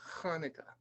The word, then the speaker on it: Hanukkah: It's pronounced like deep in the throat, like you're clearing your throat.